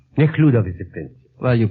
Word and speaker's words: Nekhludov: Nekhludov. Nekhludov is the prince. Well, you pronounce it better, but we have the same It's a prince.